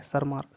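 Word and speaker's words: Tschermak: बाद तीसरे वैज्ञानिक है सर मार्क यहां पर टी साइलेंट होता है सर मार्क तीन वैज्ञानिकों ने मेंडल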